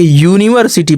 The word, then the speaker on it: university: यूनिवर्सिटी, यानी या इसका उच्चारण जो है व्यंजन, यानी या क्या है? व्यंजन। तो इसका उच्चारण तो व्यंजन से शुरू हो रहा है, तो इसका मैंने बताया है कि इसके पहले ए लगेगा।